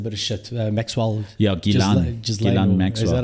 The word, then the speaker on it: Ghislaine: Yeah, Ghislaine Maxwell. Is that how you pronounce it?